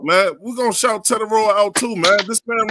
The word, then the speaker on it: Tetairoa: Yeah, it's almost like Hispanic. It's right. Tetairoa. I might be Tetairoa. You might, it's hard to roll them R's, but you wrote it early.